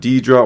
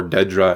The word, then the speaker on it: Dedra: moving on then with Deidra or Dedra as she kind of pronounces it we see her at